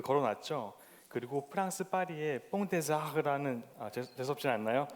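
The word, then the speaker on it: Pont des Arts: 그리고 프랑스 파리의 뽕데자르라는 재수없지 않나요? 네, 정확한 발음입니다. 뽕데자르.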